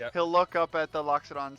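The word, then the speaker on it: Loxodon: at this elephant person cuz I can never pronounce that race to save my life. Locked. Lockxedon. Thanks you. Locked. Locked. Thank you. Alifont. Alifont. He'll look up at the Lockxodon and say, "We need we need a bath.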